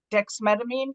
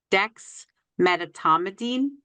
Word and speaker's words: dexmedetomidine: It sounded like dexmedetomidine.